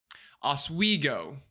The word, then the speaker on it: Oswego: Oswego is how it's pronounced, Bob says. And someone else said Oswego right after, so unless y'all just typed differently, meant the same thing.